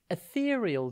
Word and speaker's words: ethereal: r e a l think eth and then real ethereal describes something light and